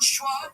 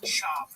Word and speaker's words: Schwab: He's doing the podcast with Brendan Schwab. It's Schwab. Don't say Schwab.